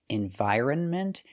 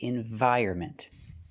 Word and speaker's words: environment: The N is silent. So for this word, we cannot trust the dictionaries. We say environment. Environment. The stress is on the 2nd and 4th syllable.